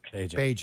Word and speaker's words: Bagent: Because I will say this, you cannot tell me that when Tyson Bagent, or I don't know how you pronounce it. Bagent.